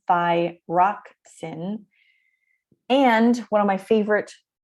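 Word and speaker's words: thyroxine: two hormones thyroxin again this is the phonetic pronunciation thi rock sin and one of my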